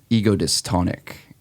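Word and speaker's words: ego-dystonic: you hyphenated and I I don't want to butcher the actual definition how do you say it again ego dystonic egos ego dystonic ego syntonic and this is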